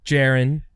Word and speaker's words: Jaron: It's Jaron, j a r o n, but they call him JKS for short.